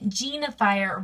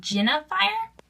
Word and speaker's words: Jinafire: Actually, people have been telling me I've been saying Jinafire wrong. It's actually, they say I should pronounce it Jinafire.